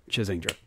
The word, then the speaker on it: Chazingdra: Yes, it is Chaz, short for Charlie, combined with Kingdra, my favorite Pokemon. Kingdra. Chazingdra.